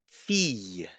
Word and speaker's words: fille: But actually, the combination LL can be pronounced like Y. And this happens when there is the letter E in front of it. For example, fille, bouteille, travailler, Y.